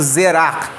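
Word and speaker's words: זרע: A palavra seme no hebraico, ela quer dizer, ela é pronunciada como zerar, né?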